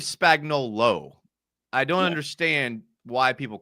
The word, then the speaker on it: Spagnuolo: I appreciate you actually saying everyone says Steve Spagnuolo, but it's actually Steve Spagnuolo.